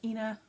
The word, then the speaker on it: Ena: Um, you can pronounce it or or Ena, however you want to say it.